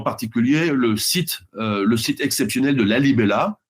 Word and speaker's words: Lalibela: Et c'est à cette dynastie des Agoué qu'on doit en particulier le site exceptionnel de Lalibela, comme ça se prononce, hein, ceux qui veulent chercher en même temps, Lalibela, des églises sculptées dans la roche, et entièrement sculptée dans la roche, en 3D.